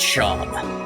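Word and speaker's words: Seam: Welcome travelers about yourself name Sham pronounced Sham.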